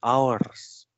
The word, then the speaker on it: hours: Should be read hours because ada beberapa yang salah membaca hours.